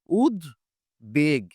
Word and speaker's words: উদ্বেগ: এই শব্দটার উচ্চারণটা হচ্ছে উদ বেগ উদ বেগ তার মানে হচ্ছে এখানে দ এরও উচ্চারণ হয়েছে ব এরও উচ্চারণ হয়েছে এরপর যদি আমরা বলি